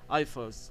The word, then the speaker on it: IFRS: الاي والاف والار والاس فهم بتتنطق ايفرز ايفرز يعني اي اف ار ار ار اس الامريكان يقوللك ايفز انما الاوروبيين يقوللك ايفار اس يعني بينطق كل حرف يعني يقوللك اي اف ار اس بس بيقولها بسرعه يعني طيب ده اختصار ايه